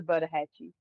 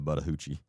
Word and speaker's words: Buttahatchee: Buttahatchee. Is that how you pronounce it? But yeah, it's the Buttahatchee. Buttahatchee and I was calling it the Buttahoochee.